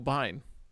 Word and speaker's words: Biehn: The cover art is based on Michael Biehn. Your second clue. I'm sorry, it's based on what? Michael Biehn? I don't know how to pronounce his last name, to be honest. B-I-E-H-N. Bain, sorry.